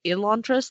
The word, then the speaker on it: Elantris: Back when it first came out, it was Elantris, not Elantris. It was an E, not an A sound for the beginning.